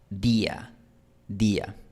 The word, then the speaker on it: día: Y un ejemplo de después de pausa sería decir simplemente día. Pronunciar la palabra de forma aislada. Día, día.